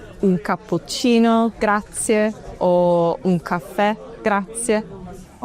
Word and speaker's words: cappuccino: an a like a cappuccino, but in Italian, it's really important to pronounce that u. Cappuccino. And the double p is long. Cappuccino.